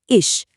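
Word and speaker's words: ich: फिर है इश नरम च के साथ यह बना इश चौथा जीबिन इसमें इ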